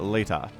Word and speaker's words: Leta: I pronounce him Lita, but I think Artosis pronounces it Leta. And I think Artosis knows more about how to pronounce the name than I do, so I think I'm going to start calling him Leta.